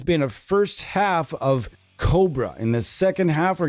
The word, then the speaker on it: Kobraa: and this is Cobra there's two A's Cobra got to say it like that you can't just say this is the Aurora GSP Cobra you can't do that it's got to be cobra